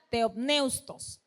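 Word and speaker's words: θεόπνευστος: de la palabra, vamos a ver si lo pronuncio bien, dice teopneutos. Esa es la palabra en griego, ¿verdad? Teopneustos, que significa soplada por Dios.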